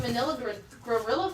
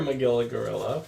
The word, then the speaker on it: Magilla Gorilla: like specifically Manila gorilla I remember Magilla Gorilla but oh see I didn't even say it right I said he was Manila gorilla like he was from the Philippines okay here we go